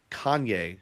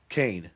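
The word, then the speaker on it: Kahne: Casey Kanye. Is that how with the H? Is H. I don't know. Kane. That's it.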